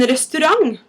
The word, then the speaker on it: restaurant: Hvor en restaurant? Hvor en restaurant? I know it's spelled like restaurant, but for some reason it's pronounced as if it ends with a G.